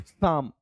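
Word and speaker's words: Psalm: साम of life, साम, ठीक है, पी है साइलेंट, इसमें ध्यान रखना है।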